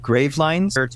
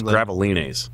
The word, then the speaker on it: Gravelines: the Spanish Port of grav lines I think it's graval because it's the French pronunciation of it ah Graal all right